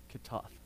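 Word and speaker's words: chatta'ath: the old testament it's c-h-a-t-t-a a-t-h which is pronounced catoth okay so the old testament word for sin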